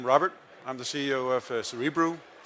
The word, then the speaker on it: Cerebriu: I'm the CEO of cerebral I know it's a name that's difficult to pronounce it is cerebral and we are a